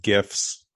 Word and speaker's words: GIF: I have to say it's GIF, and I'll tell you why, because it stands for graphics interchange format. When we pronounce graphics, I hear the hard G.